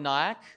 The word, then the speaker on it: Nyack: My name is Nyack, pronounced like kayak.